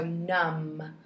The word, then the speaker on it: numb: that M and B at the end of the word makes the MM sound so numb like your feet went